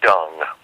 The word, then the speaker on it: Dung: Dung. How do you spell that? D-U-N-G, exactly like it sounds.